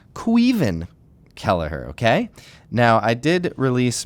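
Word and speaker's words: Caoimhín Kelleher: you've shown me that my pronunciation of our new starting goalkeeper uh formerly known as Coan kellerer uh his name is quen ker okay now I did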